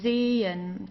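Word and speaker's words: zehn: right after that um the only function of this h is to stretch the vowel. So here zen okay so we don't say zen or zen or so we don't pronounce the h at all.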